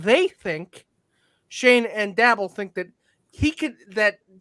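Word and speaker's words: Schoen: Shane and is it Shane or is it pronounced? It's Shane. Yep. Shane. Joe Shane. I first saw it. I thought Showing because I know somebody.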